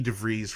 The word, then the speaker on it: DeVries: But luckily, my ticket was able to go to Vicky DeVries, Rhymes with Cheese.